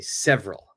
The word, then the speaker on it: several: one that is perfect we do not say this e we don't say SE we don't say SE we say several next one b business